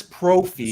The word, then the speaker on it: Prophy: And Chris Prophy, Center Square. rhymes with trophy, musically obsessed.